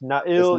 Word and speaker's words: Nail: to be very different like it's not na Yakupov it's Nail Yakupov yeah yeah or or it's nail Yakov the kov Yakov